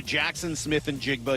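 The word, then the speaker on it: Jaxon Smith-Njigba: Huge kudos and congratulations to Jackson Smith and Jigba. Yes, that's how you pronounce his name.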